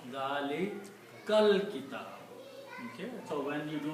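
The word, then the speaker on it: ذَٰلِكَ الْكِتَابُ: When you read together, you do not pronounce this alif here in the middle. You pronounce Dalikal Kitabu.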